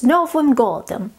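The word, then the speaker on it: С Новым годом: happy new years and this is how you say it in russian novum goldem it's novem goldem is what we would say to people happy new year i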